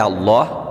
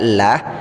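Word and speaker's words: الله: dipanjangkan sampai 5 harokat perhatikan lafadz Allah di sini dibaca dengan tebal artinya dibaca Allah tidak dibaca lah karena huruf sebelum lafadz Allah tersebut yaitu roh harkat dhomah kalau huruf sebelum lafadz Allah itu berharakat kasrah maka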